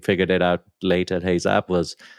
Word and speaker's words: Heyzap: And that one was Heyzap? Is that how you pronounce it? Yeah, okay. That was Heyzap, which we did from like basically end of 2008 to when we sold it in 2016.